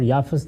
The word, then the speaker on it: یافت: ہے اور ایک یافت۔ یافت اور یافس دونوں تلفظ ہیں، اسی طرح سم اور